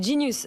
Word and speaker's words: Genius: vous pouvez postuler chez Genius. Ça se prononce à l'anglaise, mais ça s'écrit Genius.